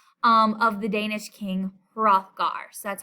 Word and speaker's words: Hrothgar: halls in class um of the danish king hrothgar so that's how you pronounce that name so it's hrothgar's meat hall